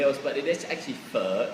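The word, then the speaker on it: phở: pretty much call it fo now because I just get the linga of everybody else but it is actually fur it's pronounced as fur yeah so it's got a really deeper tone right so if you're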